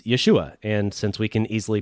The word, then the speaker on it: Yeshua: So for example, Jesus' name was not Jesus. It was Yeshua. And since we can easily pronounce Yeshua and that was his name, I typically try to stick with that.